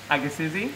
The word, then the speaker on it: agassizii: Agassizii.